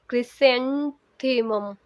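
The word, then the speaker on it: chrysanthemum: एम यू M Chris से मैं कहूंगी इसे क्रिसेंथमम क्रिसेंथमम क्रिसेंथमम क्रिसेंथमम क्रिसेंथमम एक गुलदाउदी का फ्लावर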